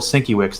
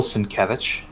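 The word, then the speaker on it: Sienkiewicz: minneapolis as time earlier and i mentioned bill cinque wicks and they all kind of looked at me do you mean bill cinkevich i'm like oh is that how you pronounce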